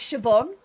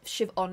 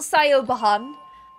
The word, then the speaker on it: Siobhan: my middle name um it's an irish name which is why it looks quite hard to pronounce but it's siobhan so like shiv on siobhan it is kind of like on but shivan is fine shivon um not sayo bahan as many people like to say instead or sib hun